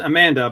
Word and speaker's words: Amanda: It's spelled Amanda, but in Spanish, Amanda is the pronunciation.